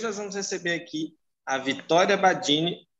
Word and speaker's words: Vitória Badini: E hoje nós vamos receber aqui a Vitória Badini, é assim que pronuncia, Vitória? Isso.